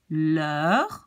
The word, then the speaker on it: l'heure: the next rule, because the H in French doesn't count. It's as if it's not there. So you pronounce this whole thing as l'heure, as if it says L'', E-U-R-E, so l'heure d'été.